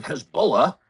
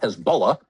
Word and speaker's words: Hezbollah: Hezbollah, or as it is often known on American television, Hezbollah, kind of the Kiev of pronunciations, people who know what they're talking about call it Hezbollah.